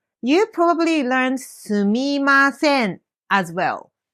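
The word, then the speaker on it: すみません: すみません is the correct pronunciation, but just like in English, people can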